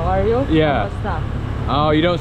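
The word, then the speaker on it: kumusta: Kamusta?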